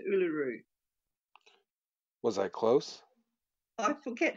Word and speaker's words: Uluru: yes ULU Ocha and a lot of people don't know how to pronounce uaru um I've noticed in YouTube videos there's um someone from Renaissance Farms I think he didn't know how to pronounce it or a couple of other people I noticed um were struggling to to pronounce it but it's pronounced Uluru was I close I